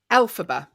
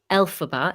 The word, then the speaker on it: Elphaba: i say it correctly i always say it wrong alphabet elphaba in the broadway musical